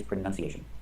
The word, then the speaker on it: pronunciation: The verb is pronounce. You Jesus. Pronounce the word this way, you pronounce the word that way. But the noun is pronunciation, with a short sound. Pronunciation. Don't say pronunciation, say pronunciation. Yes, exactly, Riveroon.